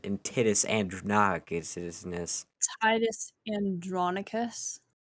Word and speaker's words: Titus Andronicus: to shakespeare's hamlet and titus andre knockout citizens titus andronicus titties andranakas okay just let me roll with it it's